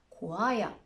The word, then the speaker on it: choir: Let's look at the other rare examples in which the H is silent. Choir, echo. Now with the G, ghost, and with an R, rhythm, rhyme. Good news, the I is not usually silent.